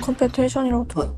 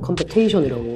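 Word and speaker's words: competition: 컴티션 그냥 컴패티션이라고. 컴패티션으로 들렸죠. 그럼 여기 한번 보세요. 근데 넌 옆에다가 발음을 컴페테이션이라고 외워버렸다고 적어 놨다고 이게 테이션으로 읽을 수 있는 방법이 없어요.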